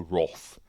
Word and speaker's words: wrath: Star Trek 2 the Wrath of C we say in the UK the Roth I don't know why we pronounce it Roth It's wrath is it the wrath